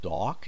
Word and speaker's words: dock: pronounce together dock yards dock with a longer vowel sound so we have dock not duck Dock dock yards when